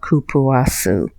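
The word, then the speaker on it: cupuaçu: lot of products and i was like kaputaku is what i was saying i think but it's it's actually kapua kapoor soup and i think i was saying cook i can't remember what i was saying but i believe you pronounce it kapoor guys it's actually called kupawasu i know i said um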